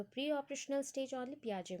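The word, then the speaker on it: Piaget: That is ये आपका पियाजेट होगा या फिर आप बोलते हो पियाजे. एक्चुअली पियाजे है, आप लोग स्पेलिंग वाइज याद रखते हैं तो पियाजेट बोल देते हैं. तो पियाजे है.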